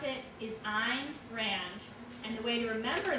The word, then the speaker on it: Ayn Rand: tell you a good trick the way you pronounce it is I'm Rand and the way to remember that is in